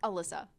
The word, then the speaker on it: Alissa: wrong already immediately so how do you say it again Alysa Alysa not Alicia Alissa Alissa Alissa I'll